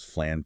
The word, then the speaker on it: Flan: That evolution was driven by a subsequent iteration of the model called flan T5. Flan like the dessert spelled the same but it stands for fine-tuned language net.